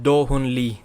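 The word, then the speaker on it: Do Hoon Lee: my job allows me my name's pronunciation is doh hoon lee johanly thank you very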